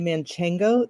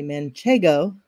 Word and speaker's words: Manchego: of people love Manchego they like to say manchango there is that's not how you say it so everybody on this podcast will be super smart and say Manchego um uh and people